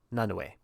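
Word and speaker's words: Nanaue: Uh, Na and Nanui, Nanoe is how you say that Yeah. because he is Hawaiian.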